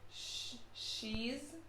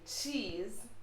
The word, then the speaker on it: cheese: pronounced in spanish so usually when you have ch words you hear it being pronounced as sh and not so that's